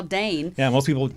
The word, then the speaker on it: Dayn: your name because who knows how to spell Dane yeah most people spell it like the dog or right you know